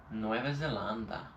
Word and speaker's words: Nueva Zelanda: before flying back to Nueva Zelanda. Right, that's how they say it in Spain. That's kind of cool. That's better than the way we say it.